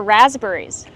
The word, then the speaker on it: raspberries: We hear the short a sound like black cat. Raspberries. The s makes a z sound like in zebra with a voice. Z. Raspberries. What about the P?